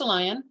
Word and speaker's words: Alian: For those of you who don't know me, it is pronounced Alian, like the animal.